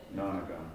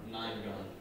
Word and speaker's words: nonagon: Nonagon. Ninegon. Not nine. Non.